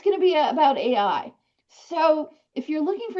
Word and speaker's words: AI: We're going to talk about AI, not Al, which is one of my colleagues pronounced was like, "What's this Al we're all talking about?" So that little sans serif there messes some people up.